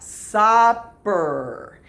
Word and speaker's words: supper: word between double consonants the double consonants keep the first vowel what short so this is what supper if there were only one p then it would actually be super with a long u but since there are two peas it's what supper did you have a